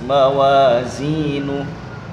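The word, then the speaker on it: موازينه: Ini kadang-kadang ada yang baca dengan sin, mawazinu, enggak boleh. Za, mawazinu. Lanjut. Fahuwa fi 'ishatir radiyah wa amma man khaffat mawazinu fa ummuhu hawiyah wa ma adraka ma hiyah narun hamiyah.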